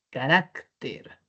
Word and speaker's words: carácter: Luego tenemos carácter. Es grave, termina en R, así es que le vamos a colocar la tilde.